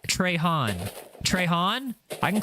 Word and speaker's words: Trahan: It's pronounced Trahan.